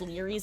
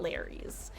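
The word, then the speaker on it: Lery's: And that that's the only thing I dislike about Frank Stone is that it made me know that that map is pronounced Liies and not Larry's.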